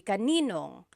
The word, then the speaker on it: kaninong: And then just a pronunciation tip, kanino ang can be put together in a contraction. It would be kaninong.